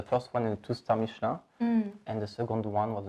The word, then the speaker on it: Michelin: Okay, I still pronounce this way, but I want you to teach us how to pronounce it in a French way.